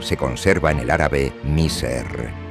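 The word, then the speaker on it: مصر: El hebreo Mazor se conserva en el árabe Miser, que se pronuncia Maser en el dialecto vulgar de Egipto.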